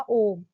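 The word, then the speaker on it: ॐ: ใน คะ สัญลักษณ์ ค่ะ สัญลักษณ์ เป็น อักษร เทวนาครี อ่าน ว่า โอ่ง ใน ค่ะ ย่อ มา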